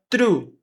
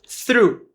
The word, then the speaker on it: through: esse G aqui, through, você pode falar through, como se fosse assim, through, vai ser a sua pronúncia. É mais fácil de portugueses brasileiros falarem assim. Mas ele tem sim um sonzinho de H aqui, que é o through.